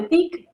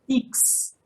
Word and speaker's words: TIC: Esta carta dice, uso de TIC, es decir, de tecnologías de la información y comunicación. Tengan en cuenta que no se dice TICS, no termina en S, termina en C, porque es una contracción inglesa.